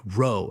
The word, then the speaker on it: row: It's spelled just like row, as in remar, but it's pronounced row.